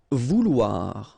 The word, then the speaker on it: vouloir: Vouloir, okay? O-U, ou, and then O-I, wa, so vouloir, okay?